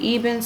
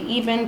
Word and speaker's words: Ebin: to be using an Ebin spray, or Ebin, however you want to say it. I say Ebin because it's spelled E-B-I-N, Ebin.